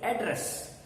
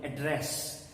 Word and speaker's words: address: on the first level address but when you use it as a bar you will you will put your stress on the second syllable address the same is the basic